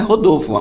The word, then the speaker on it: Rodolfo: A pronúncia do meu nome é Rodolfo.